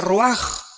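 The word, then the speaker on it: רוח: con r de Raúl a c h se pronuncia roag por ejemplo cuando hablamos del Espíritu Santo El Espíritu Santo es roag el kadosh el espíritu santo Cabos es Santo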